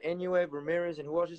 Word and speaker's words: Inoue: Oh, Inoue? Okay. Inoue. There you go. I know I was pronouncing his name wrong this whole time. I didn't know how to say it.